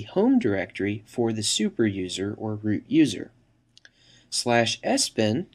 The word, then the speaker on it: usr: by the system administrator, slash usr, often pronounced slash user, which contains software that